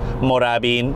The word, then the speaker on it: Moorabbin: feel it feels good this area is called moorabbin my parents pronounce it as moravin oh there it is